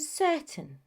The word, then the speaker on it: certain: In the longer words, you will notice that that ending is not the stressed syllable, and so the pronunciation changes. So instead, the pronunciation is mountain and certain.